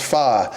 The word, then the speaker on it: pho: But it is pronounced pho.